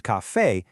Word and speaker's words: café: But if the word is café, the stress is on the end, breaking the natural rule, so it needs a tilde.